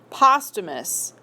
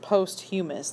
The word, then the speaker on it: posthumous: Or for a really fancy word, posthumous. Notice it's not pronounced posthumous like some people read it.